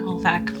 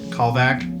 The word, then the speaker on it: Callvac: Calvik, how does it pronounced again? Callvac. Callvac. I knew I was going to get it wrong.